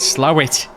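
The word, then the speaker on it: Slaithwaite: a place called slathwaite but you call it slow it oh how do it's come from slow it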